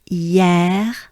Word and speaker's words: hier: This is a very important sound in French. We pronounce it a lot. The same sound would mean yesterday in French.